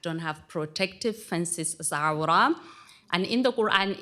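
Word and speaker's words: عورة: It's pronounced awra with a deep, I don't know what to call it, like you have to feel it here.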